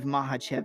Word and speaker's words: Makhachev: I hope you're just as excited to listen to my breakdown on Volkanovski versus Makhachev, or Makhachev, however you want to say it. But I believe Makhachev is the correct pronunciation, baby.